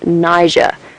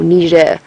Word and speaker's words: Niger: The only remaining sort of proper population or wild living population is in Niger or Nija depending on how you pronounce it up sort of towards